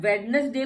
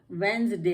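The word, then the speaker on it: Wednesday: तो साइलेंट होता है, लेकिन अब वेडनेसडे में तो कहीं भी जी नहीं है, ये आपकी एक्सेप्शंस है। इसमें भी हमारा वेंसडे कहलाता है, ये वेडनेसडे नहीं कहलाता, ये एक्सेप्शन है।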